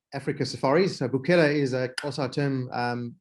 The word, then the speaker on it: Bukela: uh so so number one how do i pronounce it you're not far off um it's called it's the company is called buchela africa safari so buchela is a kosa term um which means to